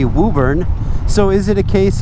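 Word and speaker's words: Woburn: So you got to know you got wobburn which is actually Wuburn.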